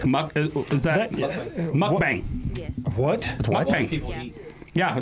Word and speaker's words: mukbang: It's mukbang. And that's how it's spelled too.